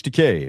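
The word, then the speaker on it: Takei: George Decay rhymes with okay.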